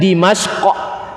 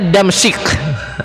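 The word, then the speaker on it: دمشق: ada yang menyebutkan Dimashq, ada yang menyebutkan, anak menyebutkan ini nanti antum ingat tokoh perfilman gitu. Ada yang membacanya Damsyik. Ada yang tahu Damsyik? Siapa Damsyik? Him Damsyik. Damsyik ya. Nama penamaannya boleh dua-duanya. Ada yang menyebutkan Dimashq, yakni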